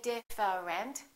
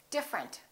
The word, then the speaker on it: different: look at this one we don't say different we say different the e disappears different here are a couple